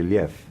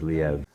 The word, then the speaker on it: Liev: If you're Russian, you say Liev. Liev. But the proper pronunciation in my family is Liev.